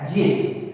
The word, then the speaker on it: ज्ञ: इसका जो शुद्ध उच्चारण होता है वो ज्ञ होता है। अपन इसको ज्ञ बोलते हैं, लेकिन ये हमारी आदत में आ गया है, लेकिन वास्तव में इसका शुद्ध उच्चारण होता है ज्ञ।